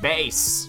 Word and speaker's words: Bass: fro hey bass hi it's pronounced bass I know that's what I said bass all right oh man